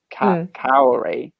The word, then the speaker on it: Kaori: But the funny thing is though, it's said as if it's spelt Kaori.